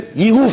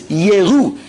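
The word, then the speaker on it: יֵרְאוּ: Yiru from seeing. It's not about kedoshav. HaKadosh Baruch Hu's tzaddikim will see him. It's a shva. 2 dots under the yud. It's yeru, and the aleph is silent.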